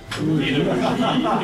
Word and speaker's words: œnologie: Pascal, elle n'a pas le droit de parler au public, donc elle n'a pas regardé dans Wikipédia la prononciation du E dans l'eau. Comme œnologie. Énologie, ésophage, Edith, Martine aussi.